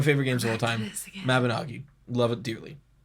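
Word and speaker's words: Mabinogi: Mabanagi. Love it dearly. That's how you're supposed to pronounce it.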